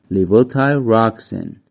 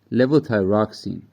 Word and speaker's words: levothyroxine: tuned first of all let's see how its pronunciation is it's Lio Ty rocken Li Ty roxen keep in mind that it also has a few other or less common pronunciations like levo thyroxin warning warning warning never use LEL thyroxin as